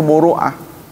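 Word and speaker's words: مروءة: Muru'ah ini suka diucapkan oleh orang marwah, ya. Nah, ini akan degradasikan marwah DPR, coba. Yang benar itu muru'ah, bukan marwah.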